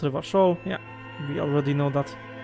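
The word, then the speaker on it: Revachol: okay let's go here never show it's pronounced reverse show yeah we already know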